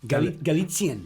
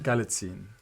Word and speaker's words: Galitzine: I've written it I've phonetically as butchered well. it and many I've- times. Galitzine. Galitzine.